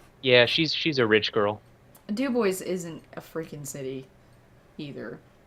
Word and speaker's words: DuBois: hats i frickin do every day city of Dubois I know I do 10,000 frickin hats that